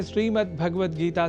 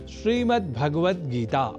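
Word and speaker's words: श्रीमद्भगवद्गीता: जैसा कि मैंने उच्चारण किया श्रीमद्भगवत गीता जिसे अनवधानतावश हम श्रीमद्भगवत गीता या श्रीमद् भागवत गीता या भागवत गीता कर जाते हैं जो सर्वथा अशुद्ध है।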